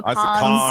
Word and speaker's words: Cannes: I know, Cannes. I've always said cons, but who knows?